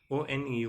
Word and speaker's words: one: O-N-E, one sounds like w-o-n, one.